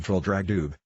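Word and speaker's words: Traldragdubh: It contained a warrant for conducting me and my retinue to Trildragdub, or Trildrogdrib, for it is pronounced both ways as near as I can remember, by a party of 10 horse.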